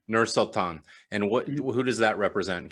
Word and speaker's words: Nur-Sultan: Is that how you pronounce, or Sultan? Nur-Sultan. Nur-Sultan.